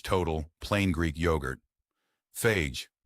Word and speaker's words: Fage: Healthy pick number one, Fage Total Plain Greek yogurt. Fage, pronounced FA, though most Americans say and the company seems to have accepted that, is one of the most straightforward yogurts you can buy.